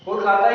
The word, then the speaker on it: Kolkata: Okay, Kolkata is the capital of West Bengal.